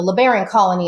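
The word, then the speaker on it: Colonia LeBarón: so it was the The libarian Colony is how you say in English but English but I've always said colon Leon that's where I was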